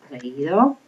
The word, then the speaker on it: creído: It's for how you pronounce it. And basically, if you look at all of these, you have a strong and a weak vowel. You remember U and I are weak, and then A, E, and O are strong.